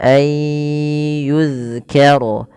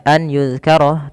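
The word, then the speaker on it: أن يذكر: Maka jangan sampai kita membacanya an yudkaroh tapi dia ayyu nunnya dianggap tidak ada.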